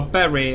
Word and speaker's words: Bury: from rochdale charlesbury uh barry i think people pronounce it wrongly like it's if it's not buried it has a unit b you are why bury um yeah it's